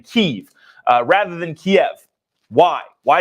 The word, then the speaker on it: Kyiv: However, it was brought to my attention over the weekend that Kyiv is the way that Ukrainians pronounce it. Kiev is the way that Russians pronounce it.